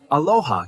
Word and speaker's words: aloha: In Hawaii, aloha can mean hello, goodbye, love, and peace.